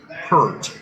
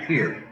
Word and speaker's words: Peart: heard of Neil Peart, and he mispronounced his last name, Peart, when it's actually Peart. That's how his last name is pronounced.